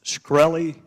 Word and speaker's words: Shkreli: chairman is it pronounced skrel II yes sir see there you can't